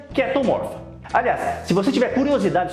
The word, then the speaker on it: Chaetomorpha: Se escreve chaetomorfa, mas se pronuncia ketomorfa.